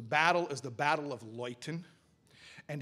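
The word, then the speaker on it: Leuthen: called lighten light enlighten is a polish town with a german name it's spelled l-e-u-t-h-e-n it's pronounced loyten so the battle is the battle of loyton and it's a famous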